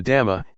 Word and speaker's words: dhamma: we see this now the dhamma in Thai pronounced in the same way as the word tum which means to do refers to Nature that